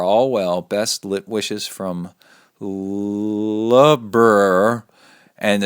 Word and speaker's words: Loughborough: Best wishes from Loughborough, and it's pronounced Loughborough.